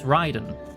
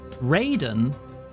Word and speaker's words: Raiden: It It's It's Ryden. Raiden is the Mortal Kombat character. And I don't think they knew they were pronouncing it wrong when they designed him to begin with back in the '9s, but they just stuck with it because it makes him stand out, I guess. So, so Raiden is Mortal Kombat. Ryden is Metal Gear Solid.